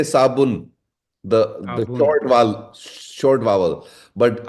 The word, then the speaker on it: صابون: In my pronunciation, there is no difference between sad and sin. Sabun. Sabun. But I was trying to look. I was trying to hear the oo sound on the ba, because in Hindi and